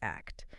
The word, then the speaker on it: ACT: Remember, pronounced act.